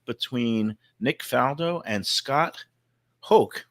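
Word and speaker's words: Hoch: Nick falo and Scott Hulk rhymes with choke Scot H because I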